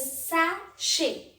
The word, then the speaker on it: sachet: Now let's see the third section, that is CH is here pronounced as Sh. The first word is sachet.